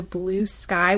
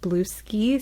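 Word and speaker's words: Bluesky: on Twitter and also Blue Sky, which I'm not going to lie in my head is pronounced Blue Ski, so I was really scared I was going to say that out loud.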